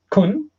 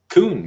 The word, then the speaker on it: Kuhn: So, being 8:04, I think it's time to introduce Mr. Kuhn. That is the right pronunciation. Kuhn, yeah. Kuhn, okay.